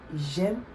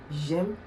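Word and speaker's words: j'aime: I'm talking about persons I Like to Dance Jam don't say gem don't say you see that it's become J apostrophe a-i-m-e and not j-e-a-i-m-e okay or another example of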